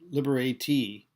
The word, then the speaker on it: liberate: It's pronounced liberatee.